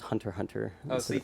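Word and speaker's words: Hunter × Hunter: that the pronunciation was Hunter Hunter Hunter x Hunter silent yeah the x is silent it's Hunter x Hunter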